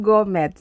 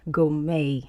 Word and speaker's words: gourmet: So when you see that word gourmet, don't be like me and assume that it is gourmet. It is not gourmet, it is gourmet. And the T at the end is silent.